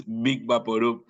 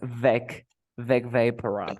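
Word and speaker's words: Vicks VapoRub: I always pronounce Big Vaporub, and it's Big Vaporub. Yes, it's Vec Vaporub.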